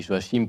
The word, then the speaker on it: Joachim: Alors je dis Joachim parce que j'ai bien compris qu'il fallait le prononcer ainsi.